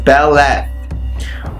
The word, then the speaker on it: Beleth: there we go so the left pronounced as Bella okay working with Bella